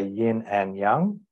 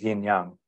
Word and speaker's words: yin yang: the west we say yin and Young but actually it's pronounced yin yang it's not separated in the west we